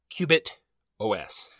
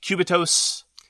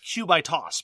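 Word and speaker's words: Quebitos: i played together uh i'm gonna pronounce it this way as in like a operating system okay uh qubit os i've heard it pronounced a number of different ways cubitos kubatos i like q by toss because it's about throwing lots of dice but anyway sure let's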